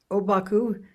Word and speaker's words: Obaku: Obaku is his name in Chinese, and the Japanese pronunciation of those very same Chinese characters, that's his name in Japanese.